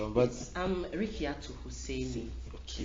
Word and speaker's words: Rikiatu: But I'm Rikiatu Huseini. okay, Rikiatu Huseini.